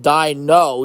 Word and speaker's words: Dino: Sinclair brand, and Dino, pronounced Dino, D-Y-E-N-O, America's most favorite Apoptosaurus, returns to New York City with baby Dino to celebrate Sinclair's growing family.